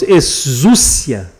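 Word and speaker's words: ἐξουσία: A pronúncia é mais ou menos exúcia, né?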